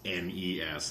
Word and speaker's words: NES: well neskar are because they would say NES and it's nees the Nintendo Entertainment System any of any of you saying NES out there are saying it wrong oh the SNES snz